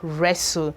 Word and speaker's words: wrestle: Okay, this says that when a word begins with WR, the W is actually silent in that word. You can see that from these examples. We have wrong. This is pronounced as wrong and not wrong. No, it is wrong, wrong, the R. And we have right. Right. We still have wrestle. This is pronounced as wrestle and not wrestle.